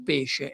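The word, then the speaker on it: pès: Se voglio scrivere il peso del pesce e il peso del pes, devo scrivere PES per dire il peso. PES, la E con l'accento grave, che vuol dire la E aperta, è 2S.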